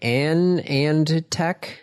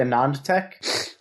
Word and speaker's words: AnandTech: pronounce it uh well it was founded by Anand LI or a non so probably a non Tech a nonch all right